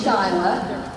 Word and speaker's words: Sheila: Actually, it's spelled like Sheila, but Yeah. it's supposed to be Shyla, and someone in my family just didn't know how to spell real well.